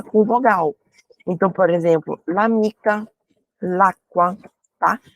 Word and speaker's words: l'amica: Então, por exemplo, l'amica, l'acqua, tá? Tem essa pronúncia mesmo. L'amica, l'acqua, como se fosse uma palavra única, tá?